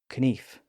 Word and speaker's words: knife: beginning of words like knife and knee and KN as in a KN in shining armor the K was originally pronounced in those words so they were pronounced more like kenif K and Kik we